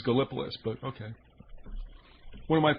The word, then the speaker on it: Gallipolis: right near point pleasant how did the natives mention that uh pronounce that town's name galapalys okay i always always gallipolis but okay one of